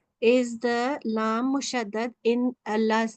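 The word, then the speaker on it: الله: So in Allah's name, that Lam with the Shadda, that is Lamul Jalala. And if that has a Fatha or Dhamma beforehand, we say it thick. Any other Lam with the Shadda, like this one, will be always pronounced thin, okay? So we say Allah.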